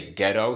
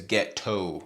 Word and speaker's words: ghetto: I like how he really accentuates it, you know? He doesn't say ghetto, he says ghetto.